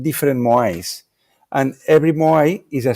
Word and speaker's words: moai: Moai, this is very interesting.